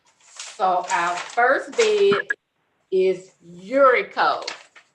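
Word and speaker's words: Uricho: So our first bid is Urico. It's spelled U-R-I-C-H-O.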